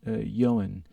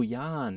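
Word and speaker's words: Ioan: uh his name is johan it's a welsh name it's pronounced i o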